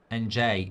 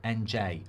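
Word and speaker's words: Ndiaye: N'jie is how you say it, Mark. N'jie. Okay. N'jie. Like okay. No, it's not like okay.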